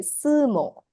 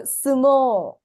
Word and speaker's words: sumo: once again this is a word that is mispronounced we say we I think uh say suo because we don't to saymo right but it's